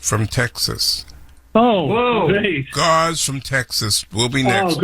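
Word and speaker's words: Gozz: I hope I pronounced it right. G-O-Z-Z. Gauze? Did I say it correctly? Yes, you said it, and I've called in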